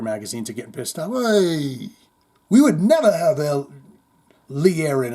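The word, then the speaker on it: oui: We is French for yes and pronounced we.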